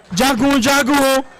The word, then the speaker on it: Jagun Jagun: Let us teach him how it is pronounced. Oh. Jagun Jagun. Say it again. Jagun Jagun.